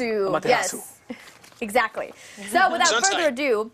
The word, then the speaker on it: Amaterasu: Oh, Amatarasu. Amaterasu.